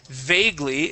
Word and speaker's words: vaguely: And then vaguely is this word. Vaguely gesturing. Vaguely gesturing. Okay, give me a long A sound there.